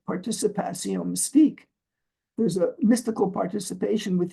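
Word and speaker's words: participation mystique: Bru's related concept of this pronounced in French as participa Mystique there's a mystical participation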